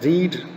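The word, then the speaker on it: read: Past में उसका रेड कहते हैं, प्रेजेंट रीड, रेड, रीड।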